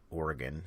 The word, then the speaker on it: Oregon: going from elko to burns in oregon or oregon is the correct way to pronounce that and we have not